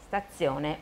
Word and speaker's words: stazione: 车站。Stazione una。